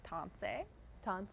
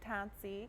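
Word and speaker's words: tânisi: teach you something today how we say hello is ton ton yeah something simple t or ton ton ton yeah some people say tansi because it's spelled that way but yeah it's great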